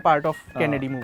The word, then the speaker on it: Cannes: ठीक है, you have been a part of Kennedy movie. कांस नहीं होता, बताओ क्या होता है? कैन बोलो या कान बोलो, वो एस जो प्रोनाउंस भाई जो चला जाए ना उसे पता है, ठीक अरे है।